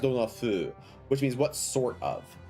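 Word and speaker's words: 風: in this case, dona fu, it's pronounced dona fu, which means what sort of, what style of.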